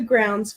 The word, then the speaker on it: Growns: Kathy Wyfall said, good evening to the Grounds family, pronounced like grounds. Yep, that is Love correct.